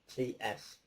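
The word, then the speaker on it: St Neots: The ghost of Saint Neots. I'll spell it for you. I'm not even pronouncing this right. It's Neots. Church. Neots Church.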